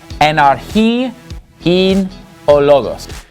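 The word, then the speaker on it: Ἐν ἀρχῇ ἦν ὁ λόγος: So here's how this verse is going to be pronounced. Enarchi in ologos.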